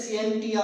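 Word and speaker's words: scientia: अब अगर हम साइंस के लफ्ज पर गौर करें, ये एक लैटिन ज़बान का लफ्ज है सेंटिया। इसको हम प्रोनाउंसिएट करते हैं सिएंटिया से।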